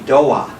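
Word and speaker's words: Doğa: called the Doa, D-O-G-A, but soft chi. The soft chi, as you'll find out later, is pronounced, actually it's not pronounced at all. It makes the previous vowel a little longer, so it's a Doa restaurant.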